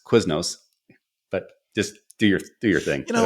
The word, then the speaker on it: Quiznos: He'd go to Quizninos. It's Quiznos.